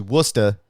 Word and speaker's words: Worcester: yeah and bacon uh Vanessa is correcting my pronunciation of Worcester it's actually Worcester thank you Vanessa I